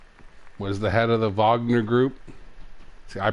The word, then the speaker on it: Wagner: Wagner. Fuck, who cares? I think Wagner sounds more badass. No, Wagner sounds worse. Guttural. Wagner, yeah, Wagner. I guess, guttural. yeah. They don't pronounce fucking W's; they pronounce V's.